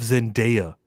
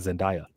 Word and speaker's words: Zendaya: That's not how you say my name. My name is Zendaya, not Zendaya.